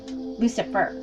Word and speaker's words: Lucifer: It also explains the Luciferian rebellion in the heavens when Lucifer, and Lucifer is spelled L-U-C-I, like Lucy, and then fur, like F-U-R, Lucifer.